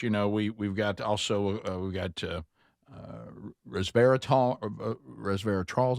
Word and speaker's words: resveratrol: And, of course, we've got also, we've got resveratrol, is how you say it?